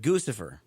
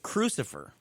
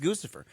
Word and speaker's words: Guccifer: he does this, but he calls it Crucifer. It's I don't know. He's mispronounced it. Has nobody mentioned to Roger Stone, dude, you're pronouncing the name dramatically wrong.